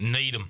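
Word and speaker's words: Needham: you went to Needum is it like needam is that how it spelled that's how people down here would probably pronounce it need them how's it spelled NE e d h a m okay I'm saying I'm saying down here people would pronounce it that way what are you saying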